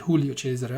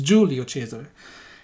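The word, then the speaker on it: Giulio Cesare: on enemy team i julio chaser uh sorry i mispronounced that a couple of videos ago and call it julio chester obviously it's an italian ship so it's julio chaser goodness gracious um what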